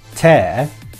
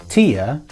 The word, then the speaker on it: tear: Now is this pronounced tear, similar to bear, or is it pronounced tear, similar to beer?